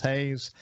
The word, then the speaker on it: Haas: friends neil and daniel hayes i said it their name wrong at the beginning it looks like hoss but it's pronounced haze and uh i will